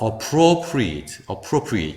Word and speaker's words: appropriate: 요거는 똑같은 a라도 강세가 없기 때문에 슈아인 어로 가겠죠? 그래서 appropriate 이렇게 갑니다.